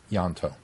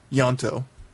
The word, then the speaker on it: Ianto: him say his name yanto yanto I just I I hear you say yanto ianto it's trying to throw the eye in I it's not yanto right y it's yanto okay but I'm just